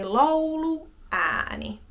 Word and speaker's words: lauluääni: Like hat. A. It's that same kind of short A sound. Hat. Cat. Mat. A. A. U-a. Lauluääni. Lauluääni. And again, stay on the a little longer just because there's two of them.